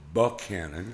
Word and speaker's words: Buchanan: It's Buchanan and Puryear.